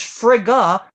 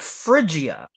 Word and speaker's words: Frigga: wrong he pronounced incorrectly it's Frigga not Phrygia and also uh some